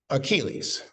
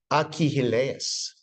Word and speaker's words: Achilles: the belligerent prima donna of the Iliad is Achilles. The Greeks would say Achilles.